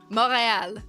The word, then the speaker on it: Montreal: Like uh morale. You know, you'll never hear someone from Montreal say Montreal. Like no. No. It's moral. It you don't even pronounce the T.